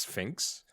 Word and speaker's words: Sphynx: now the first line is the Sphinx cat pronounced Sphinx also known as the Canadian Sphinx is what